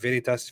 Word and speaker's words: veritas: Yeah, the V is a W sound. Yeah, yeah. There would it's be veritas, est, veritas, vincet.